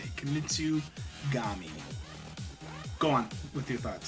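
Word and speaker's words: Kunitsu-Gami: Kamitsugami.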